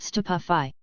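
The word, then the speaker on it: Stupefy: It's<unk> pronounced stupafi.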